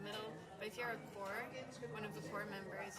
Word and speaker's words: corps: You write corpse and you pronounce it core.